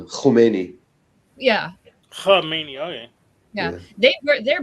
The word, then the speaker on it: Khomeini: growing up, it was always Khomeini. That's what they always Right. called him. So how do you pronounce it? With a like a ch sound, Khomeini.